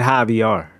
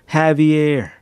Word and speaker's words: Javier: operation High VR Javier I said hi VR like caviar it's operation Javier Javier stay in school